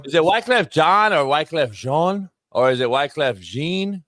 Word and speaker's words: Wyclef Jean: It's Wyclef Jean, homie.